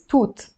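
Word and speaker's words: توت: wow so let's say Tut Tut is berry berries toot that's how you pronounce it so you would need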